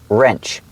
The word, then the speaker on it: wrench: wrench right there remember the word wrench the W is silent so it's pronounced with the r sound first wrench that's a little wrench